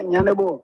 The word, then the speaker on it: Yandibo: Is that the pronunciation of the last name? Yeah, Yandibo.